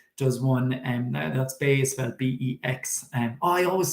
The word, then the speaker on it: Bex: sorry she pronounces it bex sorry it's just in switzerland there's a town called bay and it's spelled b-e-x and it's pronounced bay so actually martina told me she pronounces her name bex so b-e-x so if